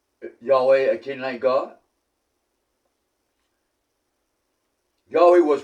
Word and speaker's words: Yahweh: Yahweh is 2 syllables.